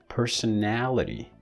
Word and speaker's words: personality: When this becomes a noun, it gets this one, personality. Now the stress is shifted. This syllable is stressed, person, and now this vowel is stressed. Look. You see, personality.